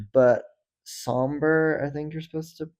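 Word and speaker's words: Sombr: So, some of his like older singles are on the album, but Somber, I think you're supposed to pronounce it.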